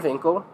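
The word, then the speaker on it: Winkel: he goes up his it's spelled like Winkle and he says Dr Winkle and he's like Dr vinkle on he's asking that's definitely how you pronounce it though he is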